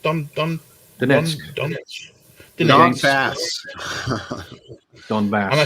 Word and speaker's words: Donetsk: How's that pronounced? Donetsk.